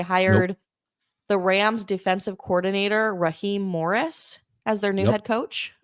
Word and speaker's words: Raheem Morris: They hired the Rams defensive coordinator Raheem Morris as their new head coach. Okay. Yeah. You pronounced it right.